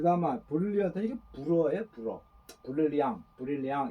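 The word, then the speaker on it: brillant: 브릴리앙 이렇게 브릴리앙 하는데, 브릴리앙 이 R 발음이 프랑스에서는요 르 발음이 아니고 이거는 거의 히읗 발음을 하게 나는데, 히읗. 그래서 브릴리앙 비언 이렇게 하는데 호 비음이 많이 나죠.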